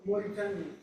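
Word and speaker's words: Mauritania: I'm not going to attempt to pronounce it. Moritania in Moritania.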